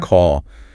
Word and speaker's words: call: That a sound like ball. Call.